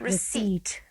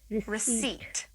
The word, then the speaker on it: receipt: Third P is silent. Receipt. Receipt.